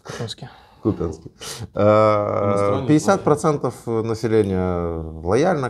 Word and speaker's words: Купянске: Или в Купянске, как правильно ударение. Ты сказал сам Купянске, я сидел потом и думал, какого хрена. В Купянске.